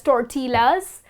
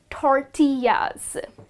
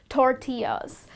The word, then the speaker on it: tortillas: to pronounce it as tortillas but that's incorrect well this delicious mexican dish is pronounced as tortillas so i'll break it up for you it's tour tea yes okay that's the